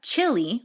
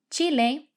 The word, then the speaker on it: Chile: one more time chile now careful it's not chili like what you eat at the super bowl with an i at the end it's chile chileno chilena chilenas chilene